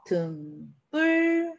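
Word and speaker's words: 등불: 등, 뿔, 된소리 대기 일어납니다. 앞말의 받침이 울림소리네요. 산, 길.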